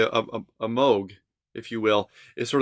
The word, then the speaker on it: Moog: It looks like Moog, but it's pronounced Moog.